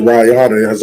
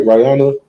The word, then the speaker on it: Raya: Sister Rayana, am I saying it right? Rayana? Sister Right. Raya? Sister Raya, give her a hand.